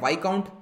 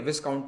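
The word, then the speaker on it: viscount: तो सबसे नीचे होते हैं बैरन, फिर होते हैं वाइकाउंट, एस साइलेंट होता है, ठीक है, विस्काउंट नहीं होता, वाइकाउंट बोलते हैं, फिर होता है अर्ल,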